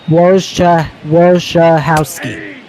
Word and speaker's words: Wojciechowski: have a problem saying Wojciechowski's last name. I need your help here, partner. It's Wojciechowski and then ski. So Wojciechowski. Wojciechowski, got it.